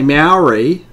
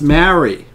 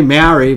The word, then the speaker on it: Māori: Just say mouldy bread, okay? And mouldy is how you pronounce Maori. Okay, you don't say Maori, but that's what some people say, so just there a little tip.